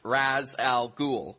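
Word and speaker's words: Ra's al Ghul: ghoul no it shouldn't because uh the term Raz Al ghoul is actually an Arabic phrase it means uh Demon's head and the term in Arabic is pronounced Raz Al ghoul not re re was just something they did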